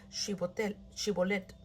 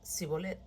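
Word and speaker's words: Shibboleth: Si decía el hombre: no lo soy, ellos le pedían que pronunciara la palabra Shibolet, Si era de Efraín, diría Sibolet, porque a la gente de Efraín le cuesta pronunciar bien esa palabra.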